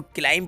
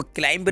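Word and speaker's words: climb: पे 20 साइलेंट है इसको क्लीम पढ़ा जाता है मैं आपको रीड करके बताऊं इसका साउंड क्या होगा बच्चों इसका साउंड होगा क्लीम इसको क्लाइंब नहीं बोलेंगे यह जो शब्द है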